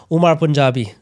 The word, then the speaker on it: Umar Punjabi: I'm joined by someone from India, our first Indian on the show, Umar Punjabi. Did I say it correctly? Yeah, you did actually.